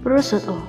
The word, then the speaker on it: prosciutto: Daging ham khas Italia ini jangan sampai salah kamu sebut, yaitu dengan prosciutto. Croissant. Nah, ini dia yang paling sering kamu salah sebut. Mulai sekarang benerin pengucapanmu saat memesan menu ini dengan croissant.